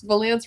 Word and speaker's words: Valance: the story all right Rex Valance rhymes with pants Valance that's cute all